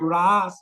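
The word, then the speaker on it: rāsa: pastime called yes ra this word raas with a long a word russle with The short a means the ingredients of but with a long a means how to taste or relish the rail.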